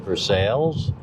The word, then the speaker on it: Versailles: So it's spelled like Versailles, and I know that, but it's pronounced Versailles.